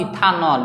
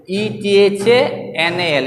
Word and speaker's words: ethanal: This is नॉट इथानॉल, this is इथानेल aldehyde. Okay, ETHANAL ethanal.